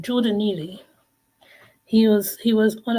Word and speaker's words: Jordan Neely: could bring it up geordan Neely said his name wrong Jordan Neely he was he was